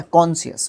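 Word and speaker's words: conscious: कॉन्शियस, very good, अब pronunciation सही आई है।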